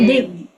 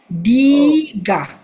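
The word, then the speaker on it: dīghā: Not dig. Remember, I say DI one syllable, GHA is ga. Diga.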